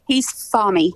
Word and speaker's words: Thami: So we just pronounce it like he's, like he says it. So he's Thami.